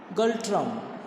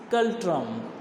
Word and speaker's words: Ngultrum: That is Bhutanese Gultrum. Yes, Bhutanese Gultrum. That is N is silent here. NGULTRUM. That is Bhutanese Gultrum.